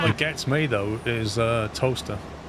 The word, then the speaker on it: Towcester: and it's pronounced toaster.